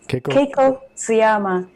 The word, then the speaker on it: Keiko Tsuyama: So first of all, let me make sure I get your name pronounced correctly. It's Keiko Tsuyama? Yes. Keiko Tsuyama.